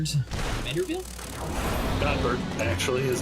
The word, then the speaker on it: Godbert: It's the currency of our true one god, Goldberg Vanderville. Godbert.